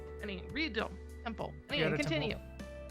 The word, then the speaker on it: Ryudo: Ryu is one syllable, not two. Ryudo Temple.